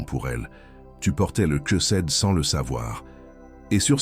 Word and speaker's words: chesed: La parole hébraïque qui définit exactement ce qui se passe en toi est chesed. Prononce-la avec moi en silence.